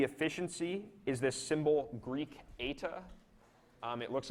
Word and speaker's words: eta: And again, this is called the efficiency, and it uses this Greek eta, which is the Greek letter that pronounces like E, but it looks like an N.